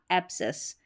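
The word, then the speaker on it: abscess: और यहाँ पर देखेंगे तो आप चाहे तो S को साइलेंट समझे या C को साइलेंट समझे, क्योंकि दोनों का उच्चारण अगर हम अलग अलग देखें तो स रहता है, लेकिन यहाँ पर हम स्पेलिंग पैटर्न देख रहे हैं, तो हम CESS को हम सेस करके पढ़ रहे हैं, और S का यहाँ पर उच्चारण नहीं हो रहा है। इस तरीके से आप इस स्पेलिंग को याद रखें। तो इसको पढ़ा एब्सेस, एब्सेस, ठीक है।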